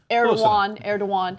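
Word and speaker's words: Erdoğan: So, you know, I could see how under Erdogan, is that how you say his name? Erdogan.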